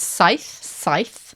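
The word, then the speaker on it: saith: 7 is scythe. And that actually looks a bit like a 7.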